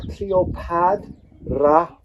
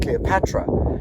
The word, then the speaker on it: Cleopatra: And then we have hand, and that is actually the D sound, not the T sound. So, we have Cleopadra. Cleopadra. So, we might actually be pronouncing her name incorrectly. It's not Cleopatra, cuz clearly written here in hieroglyphs, it is Cleopadra.